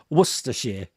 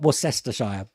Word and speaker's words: Worcestershire: Trying to pronounce Southwark rather than Southwark. And Leicestershire. Worcestershire. Not Worcestershire.